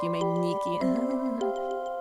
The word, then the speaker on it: Yume Nikki: There's Yumetuki, which is a play on words because ni means two in Japanese, so it's pronounced Umeniki.